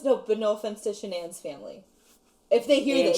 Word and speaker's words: Shanann: slapped with a lawsuit because you said the name wrong her name was shannon like oh no it's an n okay anyway so shanann met chris watts in